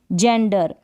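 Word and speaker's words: gender: अगर जी के बाद ई आई वाई आ जाए, जी के बाद ई आई वाई आ जाएगा तो हम जी को ज प्रोनाउंस करेंगे। जैसे कि जेंडर, यहाँ पर यानी क्या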